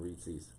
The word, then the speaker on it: Reese's: I don't know if Quinn and Olivia even remember they named Twix and Reese's. That's not how you pronounce it.